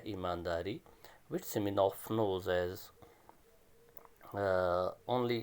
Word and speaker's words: Semenov: Please understand, in Russian, it is a Russian story, and in Russian language, V is pronounced as F or F. So it is Semenov.